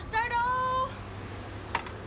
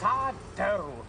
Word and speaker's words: Sardo: up come on Mr sardo that's sardo no Mis Accent on the dough S I need to